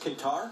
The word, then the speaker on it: Qatar: think you told me it's pronounced Qatar? Yeah, Qatar in the Middle East, I believe, is how you say that.